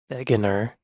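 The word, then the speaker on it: Wegener: name right probably not Alfred Wagner pronounced veganer was born in Germany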